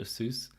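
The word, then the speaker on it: Asus: of a aces soos people call it a soos which is a bit weird for that name but I think that's correct pronunciation I'm not as much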